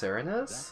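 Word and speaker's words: Serenes: home the serinus forest it's pronounced serinus that murder and the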